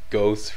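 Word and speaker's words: Gauss: why I pronounce it ghost rifles because like I live here in Montreal okay and uh the French way to pronounce the Au sound is O as in Cloe or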